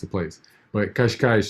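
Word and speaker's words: Cascais: it's a place but kashkai also has that um that hard C but it still has that sh sound at the end of it even though um c-a-s-c-a-i-s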